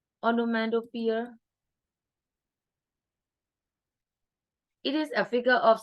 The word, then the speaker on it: onomatopoeia: to pronounce it. O-N-O-M-A. Onomatopoeia. Onomatopoeia.